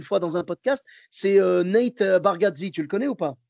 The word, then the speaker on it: Nate Bargatze: Et donc, lui, son nom, c'est Nate Bargatze, tu vois. Et il y en a, je ne sais pas pourquoi, il prononce Nate Bargazzati. Ah ouais, c'est un autre nom carrément.